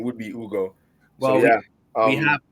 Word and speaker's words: Hugo: The H is silent.